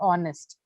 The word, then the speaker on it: honest: And so your pronunciation here and there had an issue, especially the word honest.